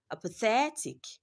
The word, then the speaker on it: apathetic: Apathetic. Apathetic. Do not mind what is on the screen. The answer to that question is in option C. Apathetic. It is longer. That third is longer and louder than the remaining part of the word.